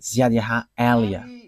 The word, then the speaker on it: Ziadiaha Elia: that is my name, so I pronounce it as my father pronounced it, Ziadiaha Elia.